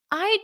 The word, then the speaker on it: I'd: So notice that D is almost not pronounced when you say it in a in spoken English.